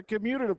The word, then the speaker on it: commutative: students and it's the commutative property vice Goodwin Anya now when people pronounce to say the community remember T there's no n in it it's commutative because we have stuff in